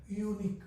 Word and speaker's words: unique: all these three words this is giving the sound like you un leer University unique we are giving the sound like U right when we give the